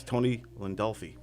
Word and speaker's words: Landolfi: For years, I always called him Tony Landolfi, thinking that's how it was the right way to say it. Then he corrected me on the show, and now every time I go to say his name, I'm thinking it too hard, and I always get tongue-tied.